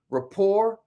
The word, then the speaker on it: rapport: a success and then give me a share rapport and you know you spell that r-a-p-p-o-r-t Rapport Rapport y'all uh I went